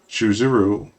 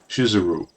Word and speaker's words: Shizuru: And why did none of them warn me that the name of the goddess is actually spelled and pronounced Shizuru, or that misspelling it is a great blasphemy?